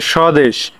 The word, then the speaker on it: স্বদেশ: যেমন স্বামী, দেখো স্বামী দেওয়া আছে, তারপরে স্বদেশ ইত্যাদি। এইগুলো তোমরা সুন্দরভাবে খাতায় তুলে নেবা। তাহলে 1 নাম্বারটা হচ্ছে কি, শব্দের শুরুতে বফলা থাকলে বফলার উচ্চারণ হয় না।